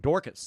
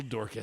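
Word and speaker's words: Daukaus: over looking that uh that Kyle dick house Kyle brick dick house or I guess that's dcas right Dorcas that's how they pronounce it Kyle Dorcas that guy's fought a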